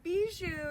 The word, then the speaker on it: Bijou: Am I pronouncing it correctly when I say Bijou? Bijou, yes.